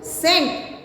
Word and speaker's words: scent: Scent, scent, you S is silent.